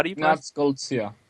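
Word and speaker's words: Goldziher: Uh uh Clinger mentioned uh the the text by Ignas I I don't know how to pronounce the last name. How do you That's Golia. Golia, right?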